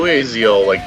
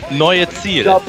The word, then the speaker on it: Neue Ziel: Oh, you Americans never going to pronounce that right. How is it pronounced? Neue Ziel.